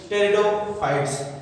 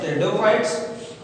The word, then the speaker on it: pteridophytes: Here P silent you see. Some student by confusing this pronounce it just like a pteridophyte, but it is wrong. Not pteridophyte, it is pteridophytes. P silent here.